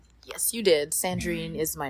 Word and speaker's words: Sandrine: We're going to be interviewing Sandrreen from Estrellar Studios. Hi. Did I pronounce that right? Yes, you did. Okay. Yes, you did. Sandreine is my name.